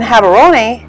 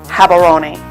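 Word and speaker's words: Gaborone: in southern Africa and Hatter oniy is the capital city it's spelled with a G but in Botswana the G sounds like an H have aroni the flag has bold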